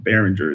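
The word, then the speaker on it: Beringer: Behringer is how you say his last name, but I forget how you say his first name.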